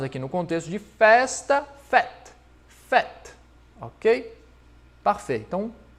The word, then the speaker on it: fête: E quando utilizamos aqui no contexto de festa, fête, fête, ok?